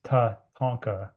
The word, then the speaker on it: Tatanka: And Tatanka, it's Tatanka is how you say it in Lakota language, is central to everything, spirituality, life ways.